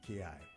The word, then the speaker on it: ki: hii yes chi in Japanese it's called KY Ki yeah in uh is known by different names